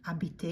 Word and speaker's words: habiter: Habiter, that H is silent, as in almost all cases, when H is at the beginning. Habiter, it means to live.